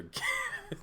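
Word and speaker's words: 개: How do you say dog? Gay. That's dog. G-A-E, gay.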